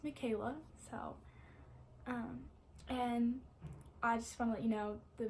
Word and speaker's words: Mikhaila: But yeah, so it's spelled a little bit different, but it's pronounced Michaela.